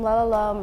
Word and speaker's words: Rotterdam: Letters from Lalalam refers to the colloquial pronunciation of the city Rotterdam by the Dutch-Chinese diaspora. My family would jokingly refer to Rotterdam as Lalalam.